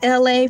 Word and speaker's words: ELAY: My name is LA pronounced like LA like the city.